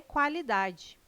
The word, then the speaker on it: qualidade: O QU não é dígrafo, não é pronunciado com um som único. O quá traz um ditongo, dois sons UA.